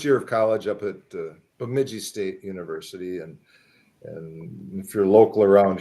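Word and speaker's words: Bemidji: my uh first year of college up at bidi State University and and if you're local around here you know that it is pronounced burmi State University because it's way up in northern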